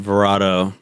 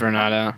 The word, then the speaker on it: Vornado: I call them I pronounce it Verado. Maybe it's Vernado. I don't know. It's Vernado. Vernado.